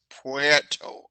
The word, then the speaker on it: Puerto: would say puerto rico i said no it's not porter it's not p o it's puerto okay am i right yeah